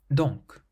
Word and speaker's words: donc: So the first word, donc. Donc means therefore, so you pronounce the C on the end.